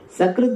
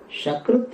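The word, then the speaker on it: सकृत्: So we have to pronounce properly. Shakrut if you say, because some people every time sha they have to say. So Shakrut if you say, it means excreta, dung, cow dung, etc. is called Shakrut.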